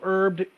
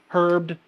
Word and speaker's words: herbed: have this is keto herbed hemp peel off recipe that's a lot of hes keto herbed hemp peeloff recipe if you're Martha Stewart you pronounce the h in herbed um so this is